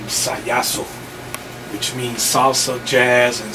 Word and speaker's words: Sajaso: And I came out with the name Sajaso, which means salsa, jazz, and soul. Ah, okay, yeah, I was going to ask you about that. I think I've been pronouncing it wrong. Sajaso.